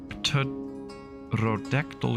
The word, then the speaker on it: pterodactyl: Why can't you hear a pterodactyl go to the bathroom? Because the P is silent.